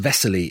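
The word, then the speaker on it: Veselý: cheers me up actually the name wesley is pronounced vesselly in czech and anyone listening to czech will know that it means cheerful and this is really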